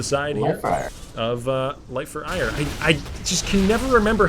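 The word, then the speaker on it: Aiur: It's pronounced ire, like the synonym for aggravation, but it is spelled A-I-U-R, which makes me just want to say like R or something like that, like sound like some sort of brain damaged dog.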